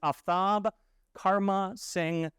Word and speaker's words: Aftab Karma Singh: start with my name the correct way to pronounce my full name is aftab karma Singh and my name thank